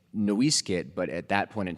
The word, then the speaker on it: NoiseCat: Um, so it's actually properly pronounced, I guess. Noiskit would be the way that the ancestral name was was said.